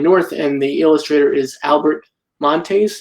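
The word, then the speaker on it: Albert Monteys: and the illustrator is Albert Montes. Is that the correct pronunciation of his last name? Albert Montes, but yes. So I got the last name right and the first name wrong. Albert Montes, and names are important.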